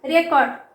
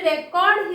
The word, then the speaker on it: record: And students, keep in your mind that when a word is used as noun, the stress is on the first syllable.